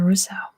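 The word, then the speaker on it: Roseau: good Here Comes an easy one that's the pronunciation Russo well next one is San Marino San Marino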